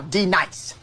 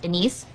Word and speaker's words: D-Nice: Now D nice. Do you mean Denise? Son of a bitch. You say your name right now. Denise? Say it right. Denise. Correctly. Denise. Right. Denise. Right. D-Nice.